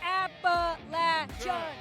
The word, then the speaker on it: Appalachian: Pronounce it right, Rose. Appalachian.